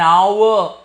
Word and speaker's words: hour: here I'll use end because my H is silent an hour an honest man students